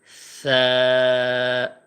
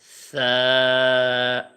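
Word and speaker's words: ثَ: আমরা অধিকাংশ মানুষ এই সার উচ্চারণটা আমরা সা, সা এরকম একটু করে ফেলি, সিনের যে উচ্চারণ আছে সিনের মতো করে ফেলি। তো সিনের মতো উচ্চারণ হইলে এটা আর ওইটা তো সেম হয়ে যাবে, সেম করা যাবে না, এটার যে পার্থক্য আছে সেটা উচ্চারণের মধ্যে ঠিক রাখতে হবে।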